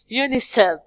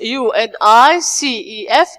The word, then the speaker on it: UNICEF: United Nations International Children's Emergency Fund, which we say it UNICEF, although it is UNICEF, but we say it UNICEF.